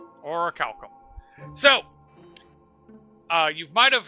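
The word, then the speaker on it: orichalcum: I'm curious if anyone knows how to properly pronounce that. Oracalum. Oracum. So, uh, you might have heard about that in video games. Oro Calcum is supposed to have mystical properties.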